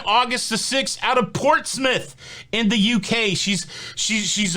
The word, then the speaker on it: Portsmouth: making sure i pronounce portsmouth correctly i almost called it port's mouth and she said that was wrong and so portsmouth hopefully